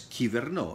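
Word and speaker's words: κυβερνώ: In Greek, it is pronounced as kiverno. In ancient Greek, it was pronounced like kuverno, hence govern.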